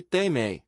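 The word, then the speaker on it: τιμή: honra eles não honraram a palavra grega para honra é Tim pronuncia-se tei fiz um estudo profundo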